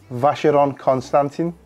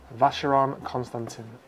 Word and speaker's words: Vacheron Constantin: oh at least not um all right Charlie vashiron Constantin fashion Constantine that was the best one that you've done to be on to be honest vacheron Constantin vacheron Constantine gorgeous how would you rate your pronunciations out of 10.